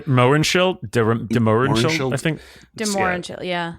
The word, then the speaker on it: de Mohrenschildt: Mohrenschildt, de Mohrenschildt, I think.